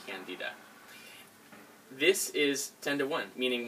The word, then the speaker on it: Candida: I say Candida because that's the proper way of pronouncing Candida.